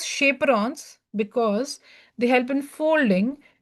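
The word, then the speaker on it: chaperones: folding that is shaperrons it is chaperons actually but we Say we pronounce it as shaperons because they help in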